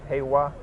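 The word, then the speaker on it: 平和: So Yeah, how this do you world, pronounce these this? two is like Sekai. Sekai? Yeah, this one's like Heiwa.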